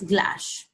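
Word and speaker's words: glace: the good strong stock is a French word it is pronounced s glass it is a stock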